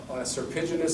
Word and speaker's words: serpiginous: You know, like if you have a serpiginous scar, so you don't say a curved scar, that's one syllable. Serpiginous, like a serpentine, serpiginous scar.